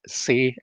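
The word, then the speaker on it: xe: They use the pronouns they, them, but say also use the pronouns say and sem and ser, spelled with an X.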